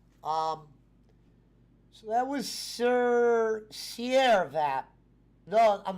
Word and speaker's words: Sirvap: he knew the pro correct pronunciation of sierra vap no it's not sir that but sierra i was like oh